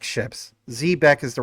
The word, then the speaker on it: Zebec: You see in the background, these ships, those ships are technically Zbeck ships. Zbeck is the right way to pronounce it, but of course the team calls it Zbec, whatever you want to call it.